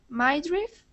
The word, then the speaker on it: midriff: Midriff? So that is pronounced midriff. Midriff. I sound, midriff.